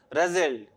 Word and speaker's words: rustled: Question number 1, rustled. The sound is da sound.